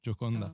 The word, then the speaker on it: Gioconda: Yeah, it's from in Italy, so I have to pronounce it in Italian. Gioconda.